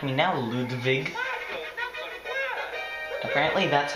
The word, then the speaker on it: Ludwig: center yes how Do You Like Me Now ludig apparently that's how it's actually pronounced on my first playthrough the fact that